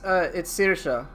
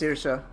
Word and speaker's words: Saoirse: No, it's Sirsha. Seriously, it's pronounced Sirsha.